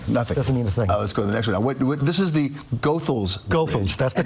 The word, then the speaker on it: Goethals: for me nothing nothing this is the Goethals go fools that's the correct pronunciation not Goethals know many of us say yes and and